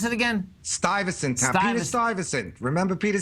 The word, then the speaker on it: Stuyvesant: How do you pronounce it again? Stuyvesant Town.